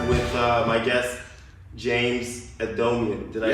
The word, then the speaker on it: Adomian: And I'm here with uh my guest James Adomian. Did I pronounce that right?